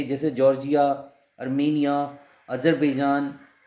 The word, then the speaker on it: Tsar: यहाँ पे राजा को बोला जाता था जार, TSAR, जार. अलग लगता है प्रोनाउंसिएशन लेकिन जार होता है.